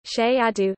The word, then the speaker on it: Cerrado: The Cerrado, Portuguese pronunciation, Cheiado, Cerrado, is a vast tropical savanna ecoregion of